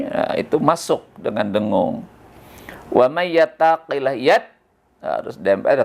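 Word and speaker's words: وَمَن: Asalnya man, kenapa jadi wa may? Nah, wa may itu hukum bacaan adalah idgham bi gunnah. Idgham artinya memasukkan nun mati atau tanwin ke dalam huruf yang 4. Ada iya, nun, mim, dan waw. Jadi kalau nun mati ketemu huruf yang 4, ya, nun, mim, waw, maka itu hilang nun matinya ya, karena masuk ke dalam huruf yang 4 itu, ke dalam huruf ya di sini, dan dibaca dengung ya.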